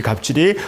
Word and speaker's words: 갑질: 원어민박 이게 완전히 원어민반이죠 갑질 계약질이라고 읽으면 안 되고 갑질이죠이 갑질이 어떤 사람이 완전히 한국에만